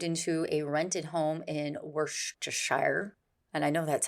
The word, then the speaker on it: Worcestershire: long they moved into a rented home in Worcestershire and I know that's how you pronounce it because I have the sauce Neil